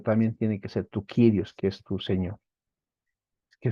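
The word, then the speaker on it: κύριος: sea el ladrón digamos otra palabra es kirios no se pronuncia curios ya hemos dicho verdad sino kirios señor amo dueño Jesucristo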